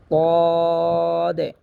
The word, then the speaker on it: ض: ضاد، ضاد। এটা, এই দত হরফটা মোটা হরফ, তো আমরা মোটা করে উচ্চারণ করব।